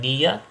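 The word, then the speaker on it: Niya: A couple of games, just as an example, are the game Nia, that's spelled N-I-Y-A, and the game Spyfall.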